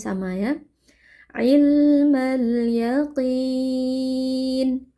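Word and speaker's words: يقين: Ilmal yaqin. Huruf qof huruf tebal. Kita baca dengan mengangkat pangkal lidah ya. Jadi qof kasrah itu tidak menjadi tipis ya. Jadi tidak boleh dibaca yakin tapi yaqi tetap tebal.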